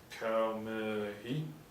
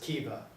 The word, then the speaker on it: Kaomi: How do you pronounce this place anyway? Kamehi? It's pronounced Kiva.